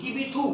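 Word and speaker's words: Kibithu: গুয়ার মতি in Gujarat eastern most point লেখো কিবিতু in Arunachal Pradesh eastern most point লেখো কিবিতু in Arunachal Pradesh K আই বি আই টি এইচ ইউ কিবি থু actually প্রোনাউন্সিয়েশনটা হওয়া উচিত স্যার এই 180 টা যা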